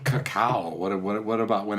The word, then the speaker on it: cacao: How do you say? Cacao.